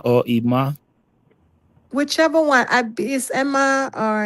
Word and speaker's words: Emma: If it's a male, you say Ima.